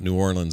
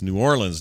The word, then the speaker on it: New Orleans: Yeah, we had this discussion about New Orleans. It's New Orleans, not New Orleans, okay?